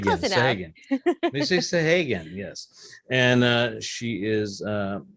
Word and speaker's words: Sahagun: Did I pronounce that right, Missy? Sahagun. Sahagun. Sahagun. Missy Sahagun, yes.